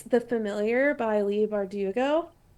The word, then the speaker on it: Bardugo: about it but it's the familiar by Lee bardugo say right did such a good job I